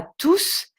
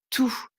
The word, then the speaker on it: tous: par exemple bonjour à tous si c'est le dernier mot de la phrase dans ce cas là on le leur prononcera le s mais en général on ne le prononce pas donc tous de la même manière